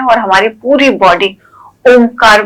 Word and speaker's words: ॐ: हो जाती ओम है दिखने में तो ओ है ठीक है लेकिन जब हम इसको स्वर के साथ उच्चारण करते तो उसमें अ उ म अ का उ के साथ संगम होता है तो ओ फिर म कई लोग डायरेक्ट भी